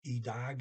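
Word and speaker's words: i dag: all in one word doesn't matter which way you do it still e dog either way um okay okay i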